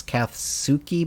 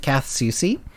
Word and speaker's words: Kath Soucy: kath soucy and i looked up how to pronounce her name uh there are some people who claim it's katsuki but i i found an interview where said